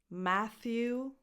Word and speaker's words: Matthew: Matthew, ma, as in mad, a, Matthew. Voiceless th, as in the word think, so it's not a t, it's a th.